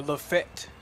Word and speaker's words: Lafayette: We had a little laugh about how to pronounce Lafayette. Or Lafette, depending on where you're from.